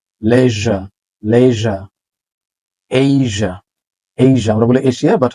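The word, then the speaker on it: Asia: অনেকে বলি laser laser laser না লেজা লেজা এইজা এইজা আমরা বলি এশিয়া বাট হচ্ছে এইজা মালয়েশিয়া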